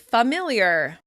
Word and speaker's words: familiar: such as the word "familiar." It may be easier for us to say "fer-" at the beginning of "familiar," because of words like "forget" and "forgive."